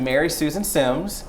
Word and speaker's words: Meri Susan Simms: let me make sure I say it right, Meri Susan Sims.